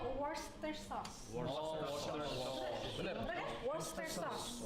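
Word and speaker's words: Worcester sauce: Saus bistik tuh tulisannya warer yang susah banget dibacanya itu bacanya worster sauce.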